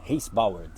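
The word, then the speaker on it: Weissbourd: Richard é esse balde Reis Bauer Reis Bauer assim que se pronuncia Reis Bauer ficha de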